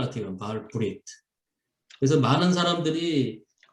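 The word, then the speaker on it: ברית: 그러니까 사실은 우리가 익숙한 말로 하면 그냥 바알 베리트 해야 되는데 뭐 이 발음에 더 충실한 것 같아요. 바알 브리트.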